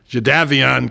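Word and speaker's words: Jadeveon: go where it's not just Houston and uh jaavan clown you're calling it jaavan now that's what they pronounces it it's not just Donnie Manzel but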